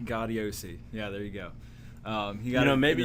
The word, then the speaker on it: Gaudiosi: John Gaudiosi. Gaudiosi.